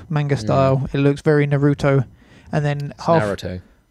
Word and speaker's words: Naruto: is the Japanese pronunciation Naruto okay Wow they don't put the emphasis on the second syllable well no I'm English